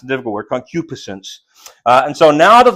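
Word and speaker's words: concupiscence: me all manner of concupisence. That's that's how that word is pronounced. A difficult word, concupisence.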